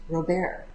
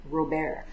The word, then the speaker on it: Robear: And there is still another robot whose name is Robear. I think if you say that French, it sounds a little bit better, Robear. But it's pronounced, or sorry, it's spelled R-O-B-E-A-R.